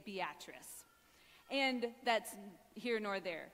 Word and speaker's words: Beatrice: in Nebraska called Beatrice it is spelled Beatrice but the locals say Beatrice and that's here nor